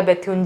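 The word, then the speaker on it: Bethune: उसी तरीके से असली में उनका नाम तो बीटन था, बट लोग उन्हें, बंगाली लोग जो थे उनको बैथ्यून बैथ्यून बुलाने लग गए, तो उनका नाम फिर John Elliott drink water बैथ्यून ही हो गया।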